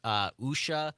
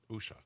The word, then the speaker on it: Usha: This is hard to pronounce. Usha That's it. Usha.